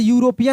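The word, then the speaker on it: European: बस तुरंत मिल गया ऐसा कोई जैसे यूरोपियन लिखा हो तो उसके पहले आप तुरंत एन लगा देंगे।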